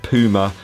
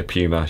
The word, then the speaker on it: Puma: nitro from puma and it is puma not puma over here in the uk we pronounce it puma i think you guys over in america pronounce it slightly differently and that's fine because